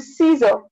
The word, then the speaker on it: scissor: In the scissor, In the scissor, the C sound is silent.